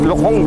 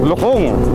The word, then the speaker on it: Lukong: Yan, the right pronunciation is Lukong Valley. Lukong, yan. Kasi, ano pala siya, sa Mangkok. Yung parang kawali, malukong. Yan, yung pala yun, the short term is Lukong.